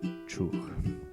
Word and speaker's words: chuch: And this word is pronounced chuch. Chuch.